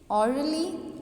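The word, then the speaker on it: orderly: जैसे कि ली और the stress is placed on the first syllable. तो आपका जो स्ट्रेस है वो फर्स्ट सिलेबल पे आएगा। देखिए ऑर्डरली, ऑर्डरली, ऑर्डरली, silently, lovingly, first syllable को हम लाउडली प्रोनाउंस कर रहे हैं।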